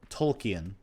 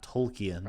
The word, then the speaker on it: Tolkien: out of uh like Tolkien Tolkien because I I have to remember I guess you pronounce it tolki not Tolkien I don't care how